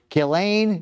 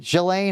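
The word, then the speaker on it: Ghislaine: is expected to meet with Epstein's former girlfriend, Gileain. Galain, how do you say it? Gelain. Gelain Maxwell. Gizlane. Gizlane. No, I think it's Gilain.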